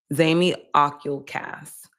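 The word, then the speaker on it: Zamioculcas: A zezy plant is actually pronounced zami ocul cast.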